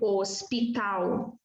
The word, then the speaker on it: hospital: A letra H no início de palavra não é pronunciada. Como aqui, por exemplo, hospital.